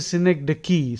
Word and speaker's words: synecdoche: So that is a synecdoche, synecdoche, synecdoche adjective.